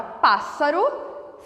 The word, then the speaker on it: pássaro: Por fim, nós temos o S e o S, que aparece na palavra pássaro, 2 S's com o som de um S só. Pássaro.